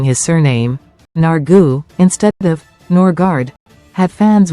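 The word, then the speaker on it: Nørgaard: The former Brentford midfielder told reporters, "I have 2 ways, the English way and the Danish way. Norgard is the English and then Nargu would be the Danish.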